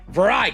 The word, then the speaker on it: Varai: Is there not supposed to be an S? There is an S, but it's silent.